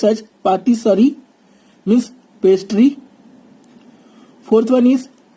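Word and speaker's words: pâtisserie: It is pronounced as patisserie, means pastry.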